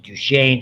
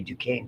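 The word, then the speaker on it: Duchenne: This is I I pronounce it duchain. Some people say Dukane don't know why is the most common and serious form.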